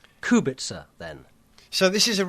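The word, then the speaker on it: Kubica: KU Robert KU Robert it's not it's actually Robert kubit so um we're going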